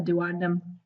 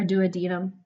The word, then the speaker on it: duodenum: this little organ called a duodenum or duodenum pronounce different ways and I've always no